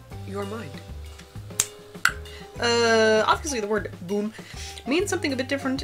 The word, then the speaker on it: Bum: name huh in Colombia the word bum is pronounced like boom oh so bonbon boom